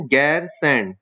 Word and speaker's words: गैरसैंण: Okay, लेकिन ये बहुत टाइम से एक बात चल रही थी कि गैरसैंण जो है, ये इसको प्रोनाउंस करें गैरसैंण।